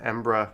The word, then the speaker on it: Edinburgh: tend to abbreviate simply ambra ambra for more pronunciation videos subscribe to our channel embrace our blog at europe all right there we